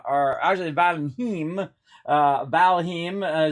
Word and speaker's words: Valheim: right now into uh valenheim uh uh or Ashley van heme uh valhim is actually how you say it uh let me